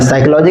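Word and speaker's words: psychology: यहां प ध्यान दीजिएगा पी को साइलेंट करके पढ़िए पी एस वाई साइकोलॉजी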